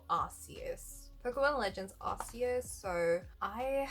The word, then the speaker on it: Arceus: Okay, it's called Arceus.